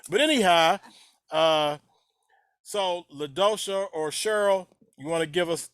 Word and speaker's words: Cheryl: In New York, it would be Cheryl. So is it Cheryl that rhymes with Pearl or Cheryl that rhymes with Carol?